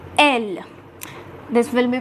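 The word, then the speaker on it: elles: So again here the last letter, which is S, will not be pronounced, and now this will be pronounced as L.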